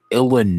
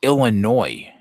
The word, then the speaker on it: Illinois: to keep it silent it's Illinois I know what you think it's called but I see it s at the end so I'm going to